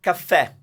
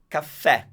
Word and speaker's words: caffè: So caffè is to say this word, it's stressed at the end, and it's an open E.